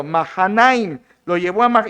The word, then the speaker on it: Mahanaim: Es la mejor pronunciación según el hebreo. Mahanaim lo llevó a Y, ¿para qué lo llevó allá a este Isbos?